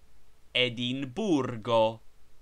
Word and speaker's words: Edimburgo: Every word is accented on the last syllable but one, as Berlino, Berlin, Berlino. Edimburgo, Edinburgh, Edimburgo.